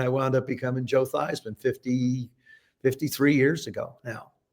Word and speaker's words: Theismann: We think by just simply changing the pronunciation of your last name from theman to thyman to rhyme with thyman, we can guarantee you that trophy.